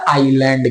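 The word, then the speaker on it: island: एल ए एन डी S silent होता है आइलैंड नहीं पढ़ा जाता आईलैंड पढ़ा जाता है चलते हैं हम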